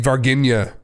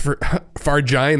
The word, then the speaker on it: Varginha: It's called, I always think it's Varginha is how I always think to pronounce it, but it's Varginha.